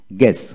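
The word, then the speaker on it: guess: তারপর আসেন গ্যাস, জি ইউ ই এস, গ্যাস, এখানে জি ই ডাবল এস, গ্যাস উচ্চারণ হবে।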